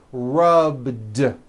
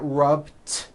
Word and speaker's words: rubbed: All I did was add a voiced D sound at the end. Rubbed. It's not rubbed with an unvoiced T. It's rubbed, like that.